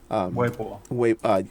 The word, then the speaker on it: Weibo: Weibo. There you go. You have the proper pronunciation of it.